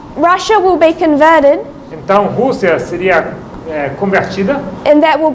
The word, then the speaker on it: Rússia: é Rússia. R-U-S-S-I-A. With an accent on the U.